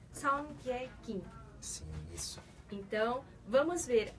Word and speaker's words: Seongkye Kim: Em português a gente pronuncia Seong-ge Kim.